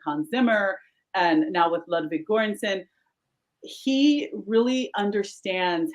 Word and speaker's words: Ludwig Göransson: Pronounce it for me. I know you're an expert. Ludwig Göransson.